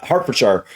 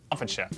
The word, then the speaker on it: Hertfordshire: Okay, and Hertfordshire. See, it's even the sure. I know that I know that what I see as Shire is usually pronounced like sure, right?